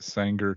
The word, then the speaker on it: Sanger: 27th yes sir singer so how do you pronounce it sanger california it's like yeah yeah be in the